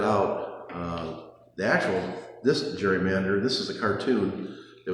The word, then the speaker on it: gerrymander: salamander and so then they called it the Gary Mander and over the time it became pronounced Jerry Mander but that's where the name Jerry Mander came from the first time this